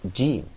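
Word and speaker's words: ج: When we all sit down to or begin to recite the ever-glorious Quran, we all pronounce it jim.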